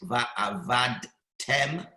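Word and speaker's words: ועבדתם: The correct way is va'avadtem, where the daled rested, as opposed to va'avadtem.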